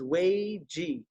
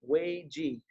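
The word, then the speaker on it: 危机: And if you haven't seen this, you should know the Chinese word for crisis is Wei Ji. That's how you say it, Wei Ji.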